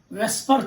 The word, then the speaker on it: VSEPR: Valence shell electron pair repulsion theory, VSEPR theory ಅಥವಾ ವೆಸ್ಪರ್ theory ಅಂತ ಕೂಡ ಕೆಲವರು ಉಚ್ಚಾರಣೆ ಮಾಡ್ತಾರೆ. ನೋ ಪ್ರಾಬ್ಲಮ್, ಹಿಂಗಾದ್ರೂ ನೀವು ಉಚ್ಚಾರಣೆ ಮಾಡ್ಕೊಳ್ಳಿ.